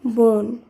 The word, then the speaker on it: বন: ও হিসেবে করতে হবে তাই ম দন্তন্য শব্দটির উচ্চারণ হবে মন বদন্তন্য বোন বর্গীয় জ দন্তন্য জোন শব্দগুলিকে এভাবে উচ্চারণ করতে